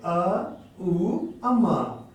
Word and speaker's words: ओम: ओम का उच्चारण तोड़ के करेंगे, अ उ अम।